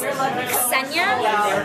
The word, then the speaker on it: Ksenia: Ksenia. Because technically it's Ksenia, but in America, people like don't associate the K and the S like as one sound.